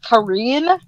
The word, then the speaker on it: Karen: certain character's name is even though it's spelled karen it's like korean cuz of where she's from but i